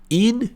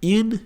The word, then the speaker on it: une: Só que ao invés de você falar U, você faz a boca do U, mas pronuncia a letra I.